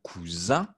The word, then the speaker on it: cousin: Masculin, je prononce un cousin. Féminin, une cousine. OK?